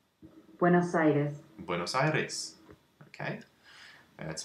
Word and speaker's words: Buenos Aires: Let's see how it's pronounced. Buenos Aires.